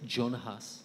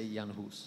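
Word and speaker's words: Jan Hus: your check now because Americans say Jonah Hoss you say yawn who's Janos yeah that's what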